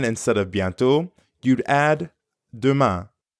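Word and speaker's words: demain: of biento you'd add Duma aduma aduma Duma means tomorrow means see you tomorrow yep abiento and aduma see you tomorrow the ending of Duma sounds a lot like the ending of Beyond Duma Duma now you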